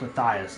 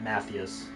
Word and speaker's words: Matthias: pronounced Matthias my bad I think it's pronounced Matthias not Mathias yeah I want to